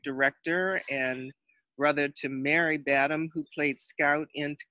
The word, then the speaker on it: Badham: It is Badham. Just like John Badham, who was the great director and brother to Mary Badham, who played Scout in To Kill a Mockingbird.